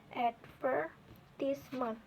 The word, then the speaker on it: advertisement: word differently for Instance in British English the word advertisement is stress on the sch syllable advertisement in American English it is often stress on the first syllable eight for this Mon